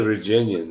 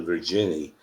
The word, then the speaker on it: Virginian: She loved the Virginian, and she called it the Virginie because she couldn't pronounce it right.